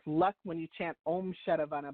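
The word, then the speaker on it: Sharavana: So the mantra is Om Shadavana Bhavaya Namaha.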